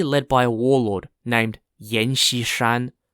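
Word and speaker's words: Yan Xishan: when he was young he joined the shanxi army which was an Army led by a warlord named Yen shishan Yen spelled y-a-n-x-i-s-h-a-n and fuzzoyi quickly rose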